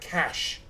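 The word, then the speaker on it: cache: Cas yeah Cas Cas whereas elsewhere in the world it's pronounced cash which I just thought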